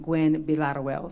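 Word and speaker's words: Gwinn-Villaroel: but it is pronounced well so it's actually pronounced Gwen bilateruel so if you get close to that I'm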